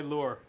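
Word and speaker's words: Luhr: Are you a fisherman or why lure? Well, my real name is pronounced Lure, but it's spelled L-U-H-R. So I just changed it to Lure to make it, to protect the innocent ones of my family.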